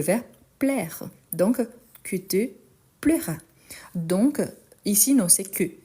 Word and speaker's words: plaira: Plaira, quelque chose que te plaira. Donc, le correct, c'est plaira et pas pleura. Je fais exprès. Pourquoi? Parce que la prononciation, les côtés son, c'est très proche.